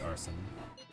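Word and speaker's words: Arsène: It's pronounced arson.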